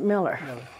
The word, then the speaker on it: Mueller: It's M-U-E-L-L-E-R, but I always pronounced it Miller.